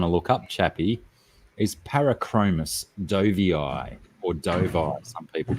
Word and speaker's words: Parachromis dovii: got it d-o-v-i-i and i like to pronounce my double eyes in scientific name now how do you